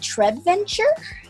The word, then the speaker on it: Treventure: with Ashley from Trey do I pronounce it Trev venture is that right yeah Fred venture I